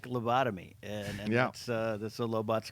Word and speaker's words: Lobot: I always pronounce it as Lobot from Empire. That's correct. Yeah. Lobot's right.